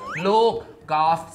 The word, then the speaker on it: Loukgolf: try to convince him I try to convince him to pronounce my nickname properly like Loukgolf say หรือแบบคุลฟูโอเคอันนี้ก็มองใครชนะ who wins ก่อนWhat?